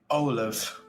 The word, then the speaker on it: Amhlaoibh: Remember how to pronounce it, Cap'n? Olive. Depends on the area of Ireland you are in, but the way that I know it is Olive.